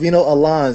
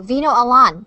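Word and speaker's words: Vino Alan: I think it's and I think it's pronounced Veno Alan so just in case when he comes out just make sure oh thank you Veno Alan thank you Johnny Jimmy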